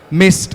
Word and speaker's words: MIST: Like I mentioned to you guys before, Maya has recently started an instudio training facility called Maya in Studio Training, Mist as we like to pronounce it.